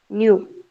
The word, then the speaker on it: nu: This is how you have to pronounce nu, N-U. This one, nu. Okay. It's like this. And lambda is Lambda. You got it? Lambda. So this is lambda. You understood? And this is nu. How you pronounce NEW, new, right? Same thing has to be done over here.